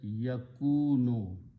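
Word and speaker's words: يَكُونُ: So it will be pronounced as yakunu. It's actually, it is a yaf'alu, so it's a yakwanu. But we adjust the sound by moving this dhamma and sukoon, yakunu.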